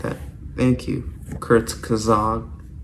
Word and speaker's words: Kurzgesagt: like that thank you Kurt kazog that's how you pronounce it but yeah if you